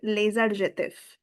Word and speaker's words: les adjectifs: Today we are about to start with les adjectifs. Again, there is a liaison. Les adjectifs.